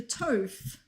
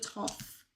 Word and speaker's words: Toph: I was doing a little bit of the British with the tof instead of toff. Like toffee apple.